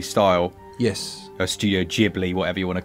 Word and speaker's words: Ghibli: style yes a studio ghibli whatever you want to call it i think it's kind of somewhere in between it's a bit like jubilee if you're going for the the japanese pronunciation knowledge subtle to do